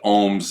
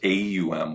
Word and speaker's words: Om: Now, there's two ways of saying it. There's OM, which is what we were doing, or there's AUM, which is all.